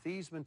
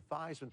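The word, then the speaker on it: Theismann: we think just by changing the pronunciation of your last name from thian to thyman to rhyme with he we can get you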